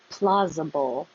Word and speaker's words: plausible: Plausible. Plausible. The S looks like an S, sounds like a Z.